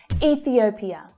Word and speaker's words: Ethiopia: Ethiopia, Ethiopia. So the third syllable there is actually the strongest. We have E, thi, o, pia.